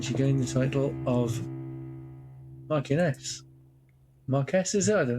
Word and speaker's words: Marchioness: Marchioness.